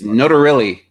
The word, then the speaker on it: Notarile: It's Notarile. Oh, Notarile. You know what? I was gonna actually. That was gonna be my first question too. Have I been pronouncing this wrong Yes, this for whole years and time.